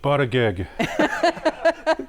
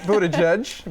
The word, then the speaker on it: Buttigieg: Pete Buttigieg. Close. Close. It's Pete Buttigieg, but I mean, that was a good try.